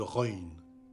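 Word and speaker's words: ر: Elle correspond à la première lettre du prénom arabe Rachid, ou au R roulé qu'on entend dans la première lettre du prénom espagnol Raoul.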